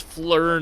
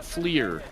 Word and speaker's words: FLIR: was in the military it's Fleur not FLIR fear not Fleur Fleur